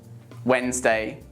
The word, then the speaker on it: Wednesday: not handsome it's handsome take a moment to pronounce the following words that also have a silent d did you say badge Edge Wednesday and sandwich now repeat